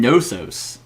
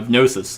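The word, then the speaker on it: Knossos: to pronounce this though I've been saying nosos k-n-o-s-s-o-sus no yeah the gnosis the horned City with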